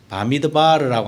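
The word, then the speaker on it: במדבר: 머리 글자를 따서 이름을 지었어요 그래서 민수기도 본래는 민수기라고 읽으면 안 되고 이게 광야에서라고 하는 말로 시작을 하기 때문에 광야에서라고 하는 바미드바르라고 하는 단어가이 책의 책 이름이 되어 있습니다 그런데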